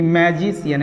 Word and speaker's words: magician: देखिए मैजिशियन MAGICIA यहाँ आ गया है, तो यहाँ पे भी सी का साउंड तालेबी से हो जाएगा। तो क्या हो जाएगा ये? मैजिशियन, मैजिशियन, यानी तालेबी से शियन, मैजिशियन।